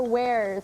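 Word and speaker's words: warez: What are wares, spelled with a Z at the end? Wares.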